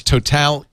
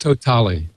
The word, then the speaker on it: TOTALe: It's pronounced TOTALE. TOTALE. You know, it's very funny because Dennis kept saying it's total. Totally. I thought it could be total, but depending on what language you're speaking, it could be total, it could be totale. So I looked it up, and in one of the press releases, it says we pronounce it TOTALE.